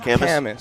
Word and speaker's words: Kamas: Camas.